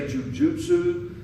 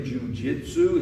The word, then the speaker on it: Jujutsu: I'm very careful with the pronunciation, not saying Jujitsu. It's completely different.